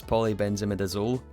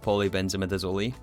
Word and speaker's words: polybenzimidazole: because of the polybenzimidazole so many of you guys corrected my pronunciation apparently it's polybenzimidazole not poly benamazi so fair enough I think that's that is actually correct so I'm going to